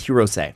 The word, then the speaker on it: Hirose: He spells it's spelled Hirose, but it's Hirose.